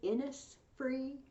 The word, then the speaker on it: Innisfree: The second poem I'm giving you is called The Lake Isle of Innisfree. It says Innisfree, but apparently they pronounce it Innisfree. I learned this from listening to Celtic Woman.